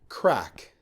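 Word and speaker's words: craic: crack for a while, it's not the crack cocaine spelt or ass crack. It is literally fun. Crack.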